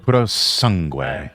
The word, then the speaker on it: Purosangue: We got I cannot pronounce that Purosangue. Purosangue. Purosangue.